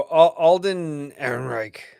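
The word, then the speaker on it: Alden Ehrenreich: All right, so Alden Aaron Reich, I think I said it right.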